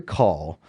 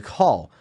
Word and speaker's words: Caul: This movie stars Gene Hackman as a man by the name of Harry Caul, which is spelled C-A-U-L. It sounds a bit like call, like C-A-L-L, like you're calling someone on the phone, which I will get